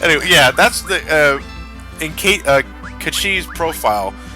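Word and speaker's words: Cait Sith: It's a different pronunciation because Kachi is not English tongue. Like Kate Sith is what we're seeing, but that's probably like an Americanized version of it.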